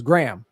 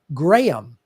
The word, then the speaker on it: Graham: I go, my name has 2 syllables. And I blow through it sometimes and make it sound like it's 1 syllable. But my name is technically pronounced like Graham, like Graham. Yeah, like the ham you don't eat. Yeah, you don't eat gray ham.